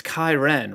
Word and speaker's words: Kai Ren: You said it's Kai Ren, rhymes with siren.